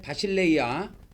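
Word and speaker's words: βασιλεία: 왜 그러냐면 해 이렇게 발음합니다. 그래서 해, 그 다음에 바실레이아, 톰, 우라논 그렇게 돼 있어요.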